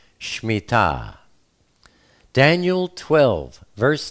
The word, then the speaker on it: Shemittah: Most people call it the Shemittah, but the proper pronunciation is Shemittah.